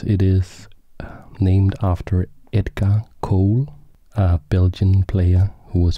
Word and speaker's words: Colle: in various interviews that it is not pronounced golly it is pronounced Cole Cole was an excellent